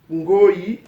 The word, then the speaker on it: ngoi: Ngoi or ngoi. Okay? The N word is just to give a insisted sound. Okay? When in Congo language to insist, they use N.